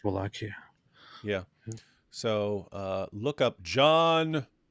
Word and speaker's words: Wallachia: I think it's actually just Wallachia.